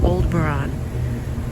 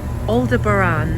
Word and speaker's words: Aldebaran: Aldebaran, not Aldebaran. I know a lot of people say it's Aldebaran. It's Aldebaran. Was the way he pronounced it, telepathically.